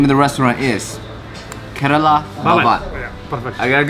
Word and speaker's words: Kerala Bhavan: I don't want to pronounce it wrong. The name of the restaurant is Kerala Bhavan. Yeah, perfect. I got it good? Very good. Kerala Bhavan.